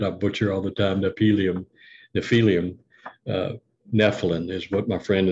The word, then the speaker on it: Nephilim: There's that word that I butcher all the time, Nephilim. Nephilim is what my friend in Arizona says, the way to pronounce it, Nephilim.